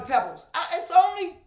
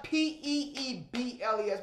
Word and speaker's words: Peebles: Because I don't, you know what people always call me? Pebbles. It's only one B. It's only one Peebles, but I always get called Pebbles.